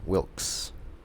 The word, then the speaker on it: Wilkes: well well well yeah Wilkes like the eid has no pronunciation Wilkes Wilkes mm-hmm Annie Wilkes a new